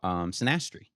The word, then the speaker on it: synastry: And then she was talking about synastry. I think I'm pronouncing I that think right.